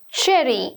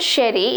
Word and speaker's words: cherry: Cherry, not sherry, it's cherry, cherry.